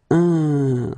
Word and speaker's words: un: Numéro 13, it's this un. So nasal, it goes in your nose.